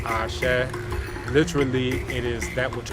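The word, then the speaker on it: Àṣẹ: Now in the United States in particular, people will say Ashe and things like that, but note that the actual pronunciation is she, as in something similar to watershed or shed or shepherd, she, Ashe, and it comes from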